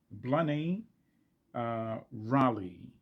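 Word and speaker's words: Blinne Ní Ghrálaigh: I think it's pronounced uh, Blaney Raleigh. I'm sure I mangled it up, but all of you know who I'm talking about. The name is spelled Blinne, and then middle is Ni, and then the last name is GhraLaigh.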